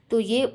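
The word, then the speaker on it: tía: तो यहाँ पे तीयो लिखा हुआ, तीयो, तीयो, ठीक है। अब नेक्स्ट है आंट, तो आंट में भी एक्सेंट मार्क है तो हम क्या पढ़ेंगे, तिया, तिया।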